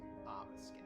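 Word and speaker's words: Obeskin: O-B-E-S-K-I-N, pronounced Obiskin.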